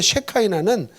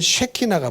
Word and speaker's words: 쉐키나: 그러니까 쉐카이나는 영어식 발음인 거예요. 히브리어의 발음은 쉐키나가 맞습니다.